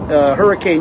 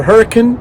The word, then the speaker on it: Hurricane: went back west to Hurricane, Utah, or Hurricane, let me pronounce that correctly, and then we worked our way back east to Moab, where we're at right now.